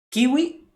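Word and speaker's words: queue: le dice así por la fruta pero bueno kiwi se pronuncia ha aparecido pero es esto que ue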